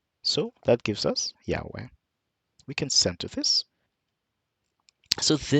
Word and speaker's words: Yahweh: So now this E here is a short E. The short E sound is as the E as in pet. And the A, of course, is the A as in apple. So pronouncing this entire word now makes it Yahweh. Of course, Hebrew, you read from the right to the left. So we read from the Yod, the He, the Wa, and the He. We pronounce that Yahweh.